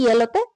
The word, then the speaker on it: Yale: তিনি 1963 সালে পিটসবার্গ বিশ্ববিদ্যালয় থেকে স্নাতক ডিগ্রি নেন এবং পরবর্তীতে ইয়েলতে স্নাতকোত্তর পর্যায়ের অধ্যয়ন করেন। ইয়াল হবে, ইয়াল, ইয়াল উচ্চারণটা হবে ইয়াল।